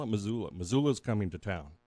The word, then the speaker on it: Missoula: do these kids know that that can they pronounce Missoula like when they said oh and they called Mozilla or MCT they call it Missoula Missoula is coming to town that's what they